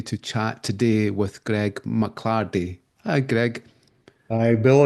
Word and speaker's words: McLardie: chat today with Greg McClardy. Hi, Greg. Hi, Bill. And you said that beautifully. Mclarde. I haven't heard my surname pronounced like that in a long time.